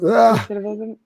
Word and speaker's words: recidivism: And then you're dealing with, on the other side of it, I'm going to butcher the word, but how you say it, recidivism. Recidivism.